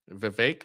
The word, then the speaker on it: Vivek: lot of stuff where he's Vivek rhymes with cake.